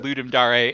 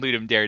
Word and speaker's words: Ludum Dare: you have to thread when you decide how to pronounce it is will that sound too pretentious to the people you're talking to i have i have waffled between ludum dare and ludum dare depending on the audience it means it means